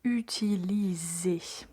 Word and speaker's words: utiliser: Euh une chose qui est particulière, c'est cette lettre S qu'on prononce comme Z. Comme euh la lettre S voyell et pour cette raison, on dit utiliser, donc à bien prononcer Z.